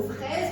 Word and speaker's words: fraise: Comme le mot fraise, regardez le S. Il est mis entre le I et le E. Ça se lit ZE, fraise, peser.